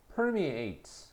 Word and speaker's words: permeate: A로 돼 있는 거는로 발음을 하면 동사가 된다. 알겠나? 그래서 permeate 강세는 물론 앞에 있다.